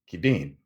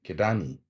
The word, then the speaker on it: Kidane: Story of johanes s kidan or kidani whichever way you choose to pronounce it of the United States